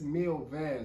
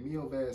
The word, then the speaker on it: Mil Vezes: the me me okay it's me V that's how you say it me V remix and it do